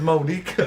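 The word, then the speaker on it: Monika: Her name is Monica. That's how they pronounce it.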